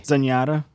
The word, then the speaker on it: Zenyatta: Zenyatta.